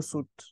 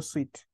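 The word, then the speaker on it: Suite: are so many they also known as Google suit or Google suet depending on how you pronounce it it's the same thing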